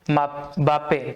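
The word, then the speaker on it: Mbappé: तो फ्रांस के कायल बाप पे ठीक है एम पढ़ेंगे कैसे इसको प्रनंसीएशन रहती है एम को आप साइलेंट भी कर सकते हैं बोल सकते हैं तो कई दिन बाप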